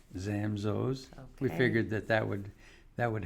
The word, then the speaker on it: Zamzows: The proper way is Zamzows. Okay. That's why we say we did the rhyming ad. Nobody knows like Zamzows.